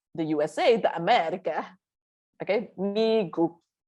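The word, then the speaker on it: 미국: Okay, next is Migu. Migu. Okay, this is how you say it. Migu. Migu is the USA, the America. Okay, Migu. Again, macam mie goreng, oh.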